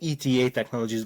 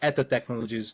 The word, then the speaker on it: ETA Technologies: and and a bit of everything but we pronounce it ETA technologies but eto technologies pretty much everything pretty much everything.